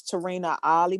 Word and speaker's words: Tarinna Olley: called the journey um on amazon and it's tarina ali my last name is spelled o-l-l-e-y and my first name is t-a-r-i-n-n-a